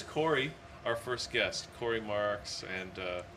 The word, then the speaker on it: Marques: There's Corey, our first guest, Corey Marques, and is that the proper pronunciation? Yeah, Corey Marques, you got it, Hugh.